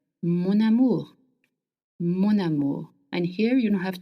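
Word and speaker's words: mon amour: Now if you want to call someone my love in French we link words together. So amu starts with a vowel and m ends with n. So you will link the words together. Monamour monu.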